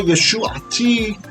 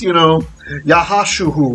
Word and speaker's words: Yeshua: His name's Yeshua, okay? There's no scholarly question that his name is Yeshua. You might have a slight variation on pronunciation, right? But none of this, Yahashuhu or anything like that, okay?